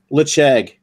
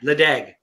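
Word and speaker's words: Ledaig: Lechag. That's It Chag. looks like Ledag. Yeah, I know. That's how they pronounce it in Scotland. It's Lechag.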